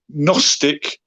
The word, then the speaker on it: Gnostic: with a silent k the gnosis has a silent g is that uh from